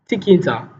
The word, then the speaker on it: tkinter: Now this inbuilt module is called tkinter. Tkinter. So it's pronounced tkinter, but it is spelled TK then INTER.